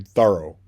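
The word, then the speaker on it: Thoreau: I mean yes it's correct that thorough pronounced his name thorough like the word thorough accent on the first syllable.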